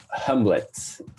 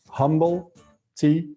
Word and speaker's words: Humblet: How do I pronounce it? Humblet.